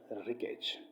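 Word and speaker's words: wreckage: रिकेज जो वर्ड है उसमें साइलेंट वर्ड कौन सा है? डब्ल्यू है, आर है, ई है, ये। डेफिनेटली जब रिकेज हम प्रोनाउंसिएशन अब पढ़ते हैं, उसको प्रोनाउंस करते हैं, तो डब्ल्यू का जो है ना वो वर्ड है वो साइलेंट है।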